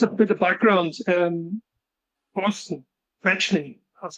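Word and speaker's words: Quaeschning: Boston, Fetchney, that's how you say his name, by the way, Fetchney.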